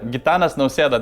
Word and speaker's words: Gitanas Nausėda: Yeah, Gitanas Nausėda, that's our president.